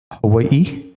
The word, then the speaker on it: Hawaii: so I do currently live in Hawaii which is the way it is properly pronounced even though though I have said it wrong for 401 and a half years Hawaii which uh you might catch me saying still but I do